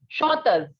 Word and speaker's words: chanteuse: The sound of single S or one S in French is Z. So it is chanteuse.